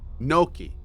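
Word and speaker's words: gnocchi: times but I'm not sure how to properly pronounce it Julia are you in here Julia would know noi noi really Noki why why did I think it was called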